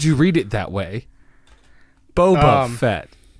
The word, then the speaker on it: Boba Fett: read it that way boba fett because bob is spelled b.o.b okay followed by a vowel makes it boba yeah if it was b.o.b.e it'd be bob if it was bobi it wouldn't be bobby it'd be boby i'm sure somebody spells